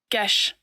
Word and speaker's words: geas: And we will ask Google to pronounce it for us. Geas. See? Geas. All right. So, I had always been mispronouncing this spell.